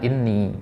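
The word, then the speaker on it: إني: Nah, qiraat hafaz di sini bacanya inni. Maka jangan kita baca innani di sini.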